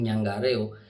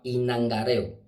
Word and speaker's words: inangareo: y nangareo se llama el término usado vulgarmente en la calle es yangarejo eso está mal se llama inangareo sabemos que no somos